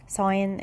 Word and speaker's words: sign: sign G silent مش بتتنطق. sign language لغة الإشارة.